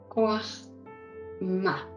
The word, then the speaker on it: Jojmá: lo ponen también como Joachma. Esto se pronuncia en hebreo, Joachma.